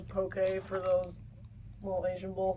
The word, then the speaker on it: poke: some poke or whatever and he's like it's poke it's pronounced poke and I'm like bro you're a